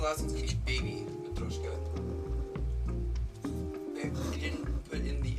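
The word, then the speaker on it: матрёшка: Yeah, I guess the proper pronunciation is like more like Matryoshka.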